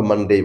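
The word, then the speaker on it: Monday: তারপরেরটা তিন নাম্বার হচ্ছে মানডে মানডে মানডে না বলে আমরা মানডে বলবো তারপরেরটা একটু কঠিন এটা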